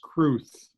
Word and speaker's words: crwth: The W is pronounced like a U, so it would be pronounced Cruth.